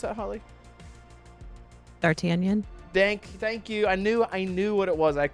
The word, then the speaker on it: D'Artagnan: Rarely catch y'all live, but for the 100, gotta show mad clown love for Can you pronounce that, Holly? D'Artagnan.